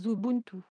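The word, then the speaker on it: Xubuntu: et se prononce mabunus comme xubintu se prononce zubuntu fonctionnement modifier modifier le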